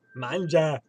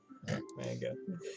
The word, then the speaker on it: manga: Manja. Manga. I intentionally mispronounce it. It's actually manga.